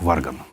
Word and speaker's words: Варган: Только он назывался так же, но с ударением на первый слог «Варган».